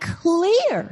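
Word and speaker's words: Klete: name his name is Cle Keller I think that's how you pronounce his first name it's kle e te he's a 39-year-old fella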